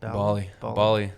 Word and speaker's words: Bali: Bali.